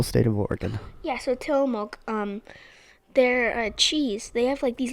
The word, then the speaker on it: Tillamook: Or another one was so do you know the Tilkamu? I don't know how to pronounce it. The Tilkamilk or something? The cheese brand? I don't. Oh, Tillamook. Tillamook. Yeah, that's a city in Oregon.